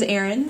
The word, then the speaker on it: Eryn: as you guys heard my name is Erin it's spelled er yn and the interesting thing